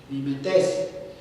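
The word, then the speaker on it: μιμηταί: viene de la palabra mimetes mi mente es perdón con acento en la última e mi mente hemos escuchado por ahí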